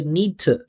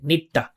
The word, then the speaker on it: need to: Use the schwa, say need to. Listen to the vibration. I didn't say nita. I said need to.